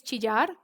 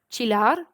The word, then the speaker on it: chillar: of the day is chijar now in colombia we pronounce the double l differently so like if you were from another spanish beacon country it might sound chillar but i would say